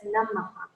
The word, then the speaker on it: namaha: So this is Ma, Nama, and then H dot under is this Visarga. So it's written with, you can just write it with the colon, and that says Namaha.